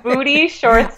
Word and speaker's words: Boudie: booty shorts yep its booty shorts calm and I have to spell it because its booty like boudoir so it's bo you di